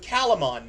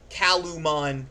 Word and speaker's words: Calumon: Their name is Calamon. Calamon, Calumon, whichever way. I always heard it pronounced Calamon, so that's how I'm going to continue to pronounce it.